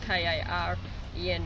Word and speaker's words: Karen: Karen, her name is spelled K-A-R-E-N, but you pronounce K-A-A-R-E-N.